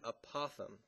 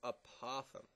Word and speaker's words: apothem: something that's called the apoem it's a strange word the apothem is going to be labeled a and this how you spell it a p o t h m it's apoem the apoem is going be